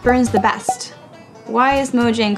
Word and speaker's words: Mojang: And do people mispronounce it? Constantly. All the time. Internally. All the time. It's mojang.